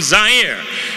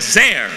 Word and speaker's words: Zaire: Hello everyone, Howard Cosell coming to you live from Zaire. Some would pronounce it Zaire. They're wrong.